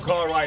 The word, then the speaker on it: Karai: It's not KARAI, it's KARAI. I say the name wrong now.